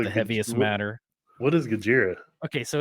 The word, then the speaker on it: Gojira: What is Gojira? Okay, so it's I want to say they're a death metal band, but they're like a heavy metal band, right? But their name is how Japanese people pronounce Godzilla.